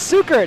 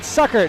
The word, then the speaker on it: Sukert: She let me know that it was Sukert and not Suckert, how it's spelled.